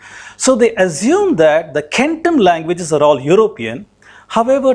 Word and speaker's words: centum: So in Latin, that became centum, which is pronounced as centum, but it is centum.